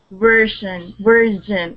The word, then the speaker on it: version: Version. It's like a CH, but it's Z. Version. Yeah, it's more of a Portuguese sound. In listening to Portuguese, they have this j sound, and that's how we would pronounce that word.